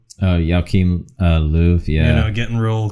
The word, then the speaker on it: Löw: They weren't always zooming in on the German coach's, how you say his name, Joachim Low? Oh, Joachim Löw, yeah.